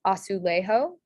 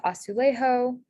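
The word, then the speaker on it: azulejo: so this word is asulejo um some hints are that the um a sound so asu lay is usually spelled with an e and then the ha sound is spelled with a j so this spelling is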